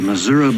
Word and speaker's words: Missouri: You know, if you look at the way the word the word is spelled, it's it ends in an I. So, I'm from Missouri, but that's how we say it.